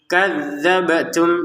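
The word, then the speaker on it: كذبتم: rinnya dua harakat faariq kadzabtum bnya dipantulkan kadzabtum jadi jangan sekedar kadzabtum kadzabtum kan enggak ada pantulannya salah ya kadzabtum wa fariqon taqtulun mim sukun bertemu wau dibaca dengan jelas ya.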